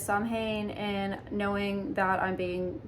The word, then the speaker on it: Samhain: It's Samhain, I think that's how you pronounce it.